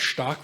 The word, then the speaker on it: stark: pronounce stark right?